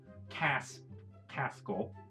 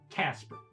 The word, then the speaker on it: Kasperl: Well, she'll pronounce the name Kasperl. Well, we are actually pronounced Kasperl und Gretel, but you can also say Kasper and Gretel. That's totally fine.